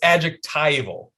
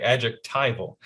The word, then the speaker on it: adjectival: There was a comment that told us we were pronouncing it wrong. It's adjectival, Jonathan.